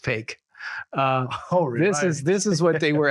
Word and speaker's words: PHEIC: health emergency of international concern, PHEIC. Pronounced fake.